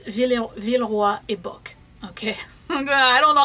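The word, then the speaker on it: Villeroy & Boch: I don't know how you pronounce it in English. In French, it's Villeroy et Bock.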